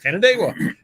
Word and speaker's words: Canandaigua: And he was talking about trying to pronounce places, and he didn't know how to pronounce Canandaigua. Oh, so I'm like, Canandaigua.